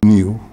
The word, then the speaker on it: niu: the linguist says that the word for coconut in Hawaii is spelled NIU pronounced new in Malaysia the word